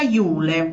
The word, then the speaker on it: Yule: Si pronuncia Iule. Ah, proprio come Iule. È scritto.